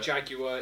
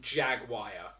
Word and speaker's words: Jaguar: But what I love is the fact, actually what I hate is the fact that the Americans pronounce it Jaguar. Jaguar, isn't it? It's Jagu.